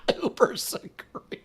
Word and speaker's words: Uber Secretes: Uber Secretes. It rhymes with Uber Eats.